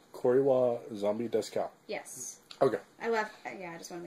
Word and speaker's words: Kore wa Zombie desu ka: It's pronounced Kore wa Zombie desu ka, and I left out the ka part. Kore wa Zombie desu ka?